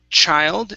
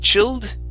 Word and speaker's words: child: is uh the word child instead of chilled it's chai child child yes child okay good